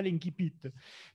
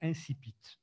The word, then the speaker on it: incipit: professeurs de français qui appellent ça l'incipit, parce qu'ils s'imaginent qu'on parle tous latin. Mais dans le littré, le dictionnaire de référence des vieux comme moi, la prononciation est clairement indiquée en phonétique, c'est incipit.